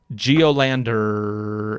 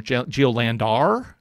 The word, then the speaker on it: Geolandar: of the geo landers i'm not sure how to pronounce it because there's an extra a in there geolandar i think it's just geolander there is a more